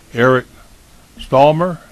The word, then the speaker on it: Eric Stallmer: signers, and I believe that's Eric Stallmer. Did I pronounce that correctly? Yes, sir.